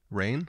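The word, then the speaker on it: Raine: to pronounce it but it's rain like like rain the other composer uh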